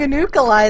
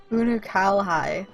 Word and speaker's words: Unukalhai: how you pronounce it i've been saying a nuclei this whole time unukalhai okay well good to